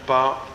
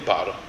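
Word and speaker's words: Paare: dire peul, on dit Par. Et pour dire Baré Chamba ou Laka, on dit Par. Et ça s'écrit P-A-A-R-E. Donc le coup de glotte arrive au niveau du premier A.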